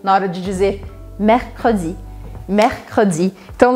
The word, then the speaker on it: mercredi: Mercredi. Então lembre que como tem dois R's muito próximos com um C no meio, a minha dica é que você separe as sílabas para treinar.